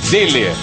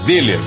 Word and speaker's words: Döhler: quem ama cuida com deer deler se pronuncia deler bom demais né casa